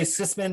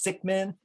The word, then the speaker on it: Sickman: Some people say Sisman, but you have to properly pronounce it. It's Sickman, and he's a Flatlander